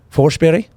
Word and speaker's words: Forsberg: say it's like wait let me try it forche Berry yeah it's pretty good not bad right forber yeah forber and it all depends on who